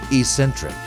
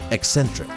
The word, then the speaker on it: eccentric: came up except they were both saying Ecentric and even though I could see the doubt on their faces and hear it in their voices they were insistent that it was not pronounced eccentric now I love the